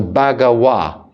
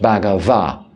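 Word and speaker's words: Bhagavā: especially in the chanting we pronounce the letter V uh the letter v as a w so bagawa not bav and this uh contributor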